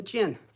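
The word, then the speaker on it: jian: That is the jin. Mary Jin. It's spelled J I A N.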